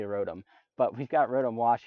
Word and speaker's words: Rotom: Rotom wash we've got rodham because my buddy Dave cannot pronounce the word Rotom for whatever reason he really thinks it should be Rodham it's definitely Rotom but we've got rhythm